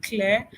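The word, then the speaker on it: KLYR: Now so K L Y R is pronounced clear and it's from the word clarity to signify that we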